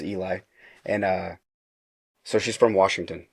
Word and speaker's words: Eli: I've been pronouncing it Ellie. so okay. So most people do, but it is Eli, and so she's from Washington State, and we met through TikTok during quarantine.